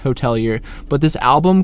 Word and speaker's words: Hotelier: The Hotelier, just kidding, it's still pronounced Hotelier.